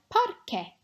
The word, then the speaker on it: parque: Let's try parque. Parque. So this one is just like porque, because, but with an A at the beginning instead of an O. The pronunciation at the QUE is the same.